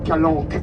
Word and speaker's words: calanche: Une italienne corse et le CH se prononce que. Alors voilà pourquoi on prononce calanque alors que ça s'écrit calanche.